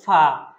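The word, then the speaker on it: فاء: গাইন তারপরের হরফটা হলো ফা ফা হরফটা এক আলিফ টানতে হবে খুবই সহজ একটা হরফ উপরের দাঁত নিচের ঠোঁট সহজে মনে রাখবেন উপরের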